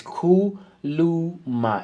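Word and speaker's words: khuluma: If you want to pronounce it correctly, this is how you spell it below. If you look here down below on my left hand side, it's Kuluma, and it means speak.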